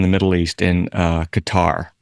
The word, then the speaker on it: Qatar: Middle East in uh Qatar some folks pronounce it cutter but um he's a